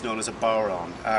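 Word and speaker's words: bodhrán: This is an Irish frame drum, it's known as a bowron. It is pronounced very different from the way it's written. It's written as bodhran, but it's pronounced as bowron.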